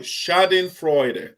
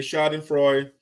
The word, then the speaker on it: schadenfreude: just want to make sure that i will pronounce the words correctly so shading freud okay shouting freud or epic can say epic character say you